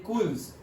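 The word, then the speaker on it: kuls: Channels like गुल्स एंड कुल्स, और इसे generally pronounce करते हैं गर्ल्स एंड कल्स।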